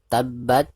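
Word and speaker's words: تَبَّتْ: Abi lahabiw watab perhatikan dari huruf ta itu langsung ditekankan ke hurufba karena hurufba disini adalah huruf mustard atau huruf yang bertasydid maka cara membacanya itu harus langsung ditekankan tab seperti itu ya tabbat Nah ketika membaca tasukkun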